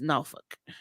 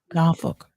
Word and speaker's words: Norfolk: When I was a kid, I thought it was Norfolk too, because I was that kid who pronounced every single letter. But no, it's Norfolk. I got it. Yeah, not Norfolk.